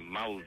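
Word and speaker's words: Maule: they're known as regions in an area called malde and malde is spelled m a u l e uh which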